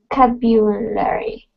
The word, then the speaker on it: vocabulary: the intonation of vocabulary so we want to emphasize the second syllable so like that can you repeat vocabulary a COO in the beginning no it's a vo sorry vocabulary oh okay vocabulary vocabulary there you go